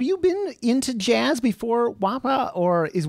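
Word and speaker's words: WAAPA: best yeah have you been into jazz before wapa or is wapa is that how you pronounce it am i getting okay yeah good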